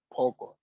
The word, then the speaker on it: pogo: pogo poco okay pogo i hope you you you you are paying attention to how i'm pronouncing it pogo okay pogo that is knife okay a knife okay so do not say poco it's wrong okay people saying okay this